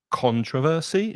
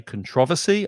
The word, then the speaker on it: controversy: Now, some people pronounce it controversy, stressing the first syllable. I say controversy, I stress the second syllable.